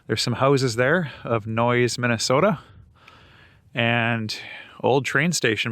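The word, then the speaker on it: Noyes: And right across from here is a place called Noise. I think it's pronounced N O Y S Minnesota. There's some houses there of Noise, Minnesota.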